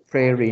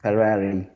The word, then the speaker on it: prairie: Prairie. Area. Not Ferrari. Again, pronounce it. Prairie. Prairie. Prairie.